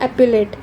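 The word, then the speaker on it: epaulette: एक सेकेंड में देखती हूँ इसको प्रोनाउंस कैसे करते हैं। हाँ, इसको बोलते हैं एप्यूलेट, इसका मतलब होता है शोल्डर ऑर्नामेंट।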